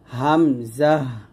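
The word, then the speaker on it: همزة: তারপর হামজাহ। দেখুন হামজা উচ্চারণটা আমরা অনেকে ভুল করি। এটা বানানটা দেখুন। হা মিম জবর হাম জা হা জবর জাহ।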